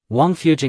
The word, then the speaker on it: Wangfujing: about this place's name in Chinese the pronunciation of Royal Mansion is Wang Fu and the pronunciation of well is Jing Wang fujing means The Well of